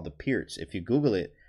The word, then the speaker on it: Pirc: you don't know that it's actually the Pierce it's actually called the Pierce but it's spelled PRC IRC perk guys perk so um funny funny